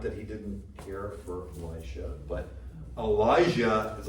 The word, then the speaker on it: Elisha: So just so you know, it's probably appropriately pronounced Elisha, but to try to make the difference when we proclaim the word, we go Elisha, right? So that there's a difference between Elijah and Elisha, right? But Elisha is probably like that's probably how it should be pronounced.